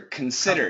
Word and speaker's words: consider: it Con even shorter consider it okay like you yes the letter you it's actually it's not con it's even shorter consider consider it perfect and do this again